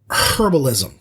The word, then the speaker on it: herbalism: the book uh varnoth learns herbalism that's a hard h he gathers herbs he